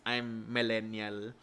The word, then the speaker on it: I'm Millennial: Or if you put it together, it's pronounced I'm Millennial.